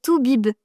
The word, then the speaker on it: toubib: Alors, on continue un peu avec le thème des docteurs avec le mot suivant qui est tout bib.